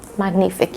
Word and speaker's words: Magnifique: um I think we're going to read Hotel magnific magnific yeah that's how it is pronounced so I already gave you like a